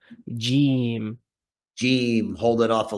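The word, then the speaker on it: جيم: saying jim. Jim. So it's not jim necessarily. It's the e is a little bit longer, right?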